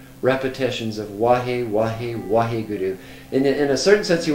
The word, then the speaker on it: Waheguru: But it's recommended 4 repetitions of Wahe, Wahe, Waheguru. In a certain sense, you want to overpronounce those words. Like when you say the Wah, it's like water. When you say Guru, smile a little bit.